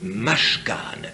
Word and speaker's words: mashkan: Il y a un mot mashkan, M-A-S-K-A-N, mashkan, qui veut dire sanctuaire, tabernacle, tente ordinaire.